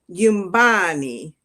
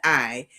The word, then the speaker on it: Yumbani: It's pronounced Yumbani. So it's almost like the N is silent, but it's not totally silent. So Yumbani, Yumbani.